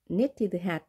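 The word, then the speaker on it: knitted: 영어로 어떻게 말을 할까요 네티드 발음이 되지 않습니다 왜 안 될까요 크 소리는 혀뿌리 부분에서 발음이 되고 느 그 다음 느 하려면 혀끝이 치경을 닿아서 치경에 닿아서 바르면 되는데요 간격이 넓죠 발음하기 어렵습니다 그래서 앞에 거 k는 생략이 되는 겁니다 네티드 털모자 편물 모자가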